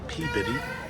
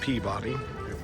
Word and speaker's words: Peabody: today for Salem Horrorfest it is the PAB bitty not Peabody guess I've been saying it wrong this whole time peab body P body S6 Museum be screening here at 2:15 p.m.